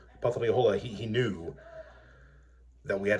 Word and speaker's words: Opothleyahola: I'm going to try to say the name in Greek, Opothleyahola. It's written as Hopeth-Harjo, but then again, Opothleyahola is written down sometimes as Hopeth-Yahola. That's not how you pronounce his name.